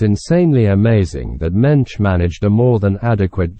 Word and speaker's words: Moench: just so you know it's pronounced mench and rhymes with wench it's interesting to note that Mensch was given these jobs